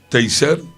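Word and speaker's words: Teisseire: Teiser se pronuncia, gracias, se dice también que muchos otros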